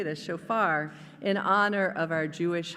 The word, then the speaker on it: shofar: shofar shofar I know how to say this shofar in honor of our Jewish High holy days